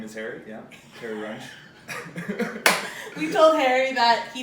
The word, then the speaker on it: Runge: Okay, Harry Runge. we're here for the Harry Runge, the hard German last name. Runge. That's how they pronounce it.